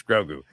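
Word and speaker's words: Grogu: He's he's Grou. Say his name. put some respect in his name. It's Grou.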